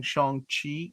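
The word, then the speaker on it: Shang-Chi: master kung fu now now i'm saying shang chi i think that's how you pronounce it right guys yep okay i know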